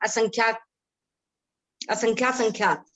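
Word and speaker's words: असंख्यातासंख्यात: परिता संख्यात, युक्ता संख्यात, असंख्यात संख्यात, और अनंत के भी 3 भेद हैं। हाँ, एक बार उच्चारण ठीक करा दूं आपका, असंख्याता संख्या, असंख्याता असंख्याता संख्या, है ना।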